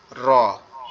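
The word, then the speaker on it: ر: র উচ্চারণ কিভাবে হবে, জিহ্বার আগার উল্টা পিঠ উপরের তালুর সঙ্গে লাগায়া, জিহ্বার আগার উল্টা পিঠ উপরের তালুর সঙ্গে লাগায়া র, এভাবে পড়তে হবে। আর যদি আমরা দেখি যে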